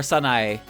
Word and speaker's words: Sanae: be two syllables and with sanai it's three syllables but when you pronounce it in english it's only two syllables sanai or sanae you're supposed the the a the e is its own character so it's its own pronunciation but you don't really remember to do that unless you're really conscious of it isn't kind a k